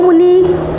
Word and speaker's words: मुनौ: मुनौ, औ की मात्रा है, औ, मुनौ। और जो मैं प्रोनाउंसिएशन बोल रही हूँ उसी पे ध्यान रखना, बाद में इसी चीज़ का यूज़ होगा, मुनौ, मुनौ।